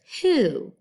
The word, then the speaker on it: who: Now, I know, I wish it was spelled H-O-O. That would make a whole bunch more sense, wouldn't it? Because there's our O-O for ooh. But this crazy language, like we talk about, has a W, then an H, and an O. If I try to sound that out, woo, ah, wah, ha, that's not a word.